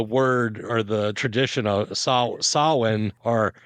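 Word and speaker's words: Samhain: comes from the word or the tradition of sawin or how a lot of people mispronounce it as Sam Hayne I believe even in Halloween like two I think it was is when you hear about that.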